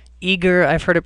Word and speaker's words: Aegir: We use a system called Eager. I've heard it pronounced 100 different ways, but it's A-E-G-I-R.